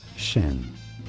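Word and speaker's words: Hsin: him a true neutral how do you pronounce the name HS i n Shin Shin okay fine by me Shin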